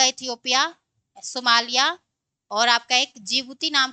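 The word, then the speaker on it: Djibouti: जिबूती होगा। डी से क्या हो जाएगा? जी ओ टी यहां पे डी क्या होता है? साइलेंट होता है।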